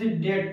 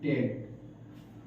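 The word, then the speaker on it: debt: है अच्छी तरह से अगर किसी वर्ड में बी टी के पहले आता है तो वहा ब बी साइलेंट होता है सेसे डे इसे डे पढ़ते डेट पढ़ेंगे क्या पढ़ेंगे डेट इसे क्या पढ़ेंगे इससे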